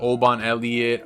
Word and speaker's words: Oban Elliott: his last fight against Oban Elliott um let me say it right Oban Elliot the Welsh gangster how our boy MMA ghoul says it um Preston Parsons